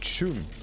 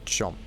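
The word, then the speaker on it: choom: But they're always pronouncing it chum, not chomp.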